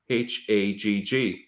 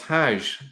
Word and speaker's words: Hajj: Hagg. Now, in Arabic, it's Hajj, but actually, if you go to places like Yemen and go to Egypt, they still pronounce that as Hag.